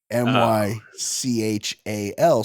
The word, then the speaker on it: Mychal: So he changed the spelling with the M-Y. Mychal. So no one would ever mispronounce it because it's Michael.